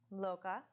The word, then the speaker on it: Lokah: so the first word is loca and I'll spell that L o ka h lokah samasta si mas tah Sammis tsuki no su